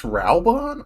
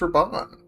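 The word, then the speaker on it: Raubahn: Yeah, Ralon. That's how you say it. It's Ralon. I thought it was Rabbon.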